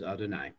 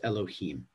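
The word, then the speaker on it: יהוה: usually pronounce that yeah we usually read it as adonai but in certain contexts in particular when it follows directly after another name of god um we it's read as elohim okay and that's just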